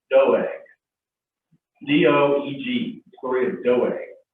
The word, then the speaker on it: Doeg: Today we're going to talk about, and I had to look up the pronunciation of this, but it's just like it looks. It's Doeg.